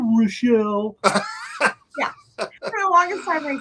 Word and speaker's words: Richel: no no forget it no he actually thought my name was Rachel were screwing with him and pronouncing it weird and I was like no no I was like okay Rochelle I'm sorry I said